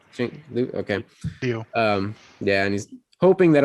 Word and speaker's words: Simu Liu: superhero lead, and I don't know how to pronounce the actor's name. Simu Liu. Liu. Okay. Liu.